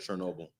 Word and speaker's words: Chernobyl: Chernobyl.